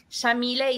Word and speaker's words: Yamile: So Yamile is an Arabic name pronounced with an Argentine accent. We say the Y like an SH.